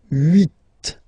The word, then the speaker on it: huit: Okay, then here final T is pronounced, so huit, huit. Remember in French this H letter here, okay, doesn't exist phonetically, so we don't really pronounce it, okay? So if you listen carefully, you will only listen or hear these vowels at the beginning of the word, huit, huit, okay?